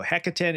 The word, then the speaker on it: Hekaton: So Hekaton, it means 100 soldiers or something like that.